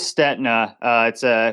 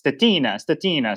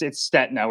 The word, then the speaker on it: Stetina: Europe would think it's Stetina. So yeah, everyone says it that way, but it's Stetina with a silent I.